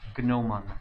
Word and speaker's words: gnomon: filled with the g it is spelled with a g like gnome or yeah it's spelled with a g gnomeon it is crazy and